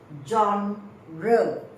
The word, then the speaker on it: genre: fourth line you can write the genre the pronunciation is JRE genre means the type so the genre of